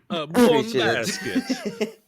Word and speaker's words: buon basket: Buon basket. That's how you say it.